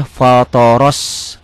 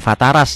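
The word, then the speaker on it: فطر: Fatoro ya, fatoros, bukan fataras ya. Ini ya. Kalau pakai Latin akan salah, akan bacanya fataras. Fatoros samawati wal ardo.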